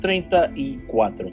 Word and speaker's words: treinta y cuatro: And it's pronounced treinta y cuatro.